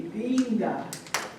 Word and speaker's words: Linda: All the I's in Spanish have a long E sound. So my name is Linda, but in Spanish would be Linda. You gotta put that I has an E sound.